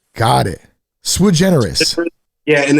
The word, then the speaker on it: Sui Generis: And it's hard for people to understand what it means, but it's actually Sui Generis. Got it. Sui Generis.